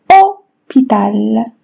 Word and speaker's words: hôpital: Hôpital. Même chose, je prononce pas le H.